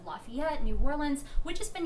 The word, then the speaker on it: Lafayette: 2 stops in Louisiana and New Orleans and Lafayette. I always say that wrong. You pronounced it right.